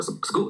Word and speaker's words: school: 像我们说的 school，对吧？不能读成 school，一个道理。